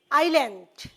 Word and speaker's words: island: Okay, my dear students, please notice the pronunciation. Island, island.